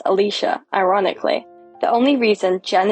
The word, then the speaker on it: Alyssa: name me after their wet nurse named Alyssa, pronounced Alicia, ironically.